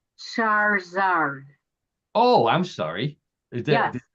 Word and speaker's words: Charizard: And by the way, it's pronounced Charizard. Oh, I'm sorry. Is that Yes. Wow, Charizard.